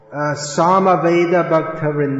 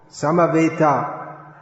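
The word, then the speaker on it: समवेत: should be pronounced properly sama veda is nothing to do with the sama veda samaveita samaveta it means assembled all glorious to the assembled devotees it's nothing to do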